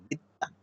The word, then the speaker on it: বিদ্বান: আমরা জানি শব্দের মাঝখানে ব-ফলা থাকলে সেই ব-ফলা যে শব্দের সাথে যুক্ত থাকে, যে বর্ণের সাথে সেই বর্ণকে ২ বার উচ্চারণ করে। এইজন্য ২ বার হয়েছে বিদ্বান।